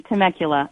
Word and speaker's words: Temecula: you say that Julie how do you have you you said it perfectly Temecula do you know hasta